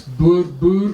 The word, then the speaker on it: Boer: Republic, known as the Boer Republics. Boer or Boer, as English people would pronounce it.